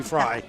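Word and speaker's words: Frey: Talking to the Fry, F-R-E-Y.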